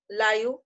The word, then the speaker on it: live: Note that in the phrase live English, in the word live rhymes with five.